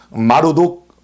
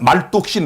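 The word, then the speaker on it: 마르둑: 왼쪽에 있는 마르독 어 신입니다. 어, 그냥 말독신 해도 됩니다. 말독 말로독 말독. 예. 발음 차인데요.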